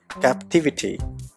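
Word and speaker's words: captivity: அதே இன்னொரு noun form, அதே வேர்டோட இன்னொரு நவுன் ஃபார்ம் கேப்டிவிட்டி, இதில் செகண்ட் சிலபிளில் தான் ஸ்ட்ரெஸ் வருது. கேப்டிவிட்டி.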